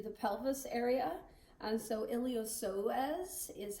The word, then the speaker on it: iliopsoas: pelvis area and so iliopsoas is how you pronounce that iliopsoas and not iliopsis so some people do pronounce the p but that is wrong then pectineus then rectus